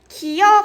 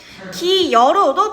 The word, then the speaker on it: 기어: 우리가 예시를 보면은 원래 기어 같은 경우는 기다 기어가다 기다에 기플러스 어가 합쳐진 거잖아. 그랬을 때 기어로 발음을 해야 되는데 기여로도 발음을 허용한다라는 얘기가 되겠지.